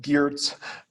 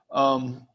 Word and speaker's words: Geertz: And for years and years and years, I said Geertz. But he is actually, I think he pronounces it himself. He mumbled a lot, but his own pronunciation was Geertz.